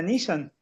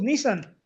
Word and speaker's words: Nissan: Era la marca Nissan. Todos decimos Nissan, pero se pronuncia Nissan.